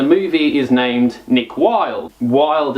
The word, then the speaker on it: Wilde: Wilde is spelled with W-I-L-D-E. So it's sort of not spelt wild, but it is type deal.